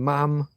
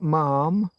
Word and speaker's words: mum: How your lowly Yorkshireman are doing all these and thoses and mum and the Queen wanted to be addressed as mum, not mom. Doesn't rhyme with farm, rhymes with ham.